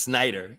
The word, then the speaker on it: Snider: Well, we pronounced it Harlequin. And Dee's last name is Snyder. Everybody says Schneider, though, by accident.